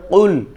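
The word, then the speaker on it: قُلْ: উচ্চারণটা হবে কুল, কফ। এটা এই যে জিহ্বার গোড়া থেকে একটু সামনের দিকে বেড়ে জিহ্বার গোড়া সহ উপরের দিকে তালুর সঙ্গে লেগে উচ্চারণ হবে কফ, কু, কুল, কুল, কুল।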